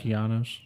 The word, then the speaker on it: Okeanos: I think he like closes his eyes and he sees the Oceanus. Yeah, Oceanus, the big ocean and all that. Okeanos. That's how they pronounce it.